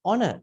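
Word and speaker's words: honour: you don't call honest it is honest it is silent right and all also h o n o u r it's honor it's not Conan right because it is a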